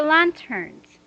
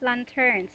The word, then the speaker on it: lanterns: And for lanterns, this is not lanterns, okay? This is lanterns. Your intonation is that first syllable.